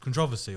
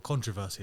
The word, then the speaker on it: controversy: a lot of cont controversy or controversy depending on how you pronounce it because he came out